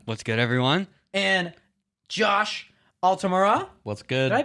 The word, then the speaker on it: Altamura: with knight neronia what's good everyone and josh altamura what's good did i pronounce both your names right yeah yes you